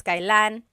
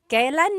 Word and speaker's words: kailan: Kailan nangyari yun? And then just a pronunciation tip, it's pronounced kailan, kailan, but you will often hear it pronounced kailan, kailan.